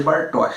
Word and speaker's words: Bartosz: Agora eu falei Bartosz, né? Porque naquele outro vídeo que eu não sabia como pronunciar e tal, mas o meu amigo Weilo Valias, que é alemão inclusive, ele me explicou que é Bartosz.